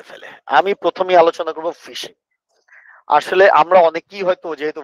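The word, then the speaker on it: phishing: আসলে এই ফিশিংটা আমরা যে মাছ ধরি ওইটাকেও কিন্তু ফিশিং বলি। আর এইটা পিএইচ আইডি এইটা উচ্চারণ কিন্তু ফিশিং।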